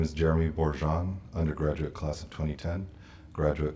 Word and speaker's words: Borjon: you say your name last year and then spell it in that order okay uh my name is jeremy borjan undergraduate class of 2010 graduate class of 2017.